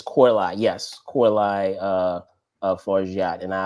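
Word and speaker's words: Coralie: I always say Farjat, but I believe it's Korlai.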